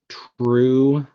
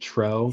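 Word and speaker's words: Truex: Ty Dillon was second, and Martin True Jr. I'm not sure if that's how you pronounce it. Tro. Yes. Martin Tro Jr. It's Tro. You should know that, Jim.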